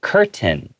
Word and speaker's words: curtain: But in America, a lot of people usually tend to take hard T sounds in the middle of words and we kind of swallow it.